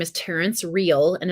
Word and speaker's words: Real: he is phenomenal uh his name is Terence real and it's spelled like real like the real every Rel